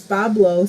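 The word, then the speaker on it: Boblo: Rox just said, I don't even know how to pronounce that either, is Bablo, so I never even knew that.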